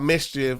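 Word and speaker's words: MSCHF: big red boots by about Mischief um it's spelled m-s-c-h-f I went to their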